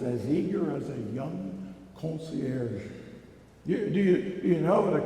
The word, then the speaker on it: concierge: there, Kathy, were here today to help us pronounce a particular French word. Concierge. Say it with me. Concierge. French, eh? It's so smooth, it's so beautiful. Concierge.